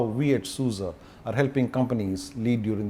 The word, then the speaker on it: SUSE: and needs for our customers so the right pronunciation is souza okay now i've got the promise right souza okay now what does susa do okay so